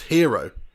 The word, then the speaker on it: gyro: um sunil mancad comments isn't gyro pronounced hero is it oh i